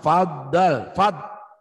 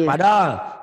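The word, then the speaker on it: فَضَّل: Faddal. Itu nyamber dan double. Nyamber dibacanya fad, nyamber gitu ya. Nyamber dan dibaca double, dibaca 2 kali. Jangan padol. Banyak Karamlah orang yang baca padol.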